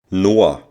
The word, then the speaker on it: Noah: now check how a German native speaker would pronounce the name Noah Noah the next name is Leon Leon is the